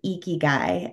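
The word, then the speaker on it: ikigai: social impact space is the Japanese concept of eeky guy and for listeners and viewers I'll spell it it's I Ki G Ai and um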